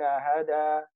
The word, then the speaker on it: هدى: So here, if we stop here, we say أولئك الذين هدى, and we pronounce the alif. It's alif maqsura. When you join, the alif maqsura drops. We say هدى الله.